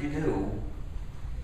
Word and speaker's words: GNU: So the name of this system is GNU.